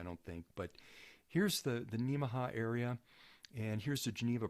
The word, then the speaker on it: Nemaha: Project Geneva, Nebraska, and the Nemaha, which you can remember how that's pronounced by, it's similar to Omaha, so Nemaha, Kansas.